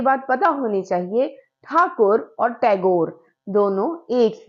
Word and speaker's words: ठाकुर: तो कविता है आत्मत्राण, जो कि लिखी है रविंद्रनाथ ठाकुर ने। अब आप बोलोगे ये ठाकुर है, कहीं कहीं टैगोर है, तो आपको ये बात पता होनी चाहिए, ठाकुर और टैगोर दोनों एक ही है।